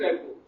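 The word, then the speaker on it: rapport: Teaching रेपो T silent है, teaching रेपो।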